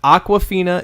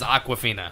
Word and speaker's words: Awkwafina: But Aquafina is AWKWAFINA. I mean, that's pretty. I mean, to me, that says Aquafina. Yeah. Yep. You want to Google that spelling and find out who this Aquafina is?